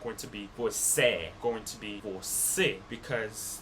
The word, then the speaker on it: você: That one up there is a more closed vowel sound. They're not going to have it like an open vowel sound. It's going to be closed. They're not going to pronounce it você. They're going to pronounce it você. Você. Make it like an is sound at the end because of the accent on top of the vowel.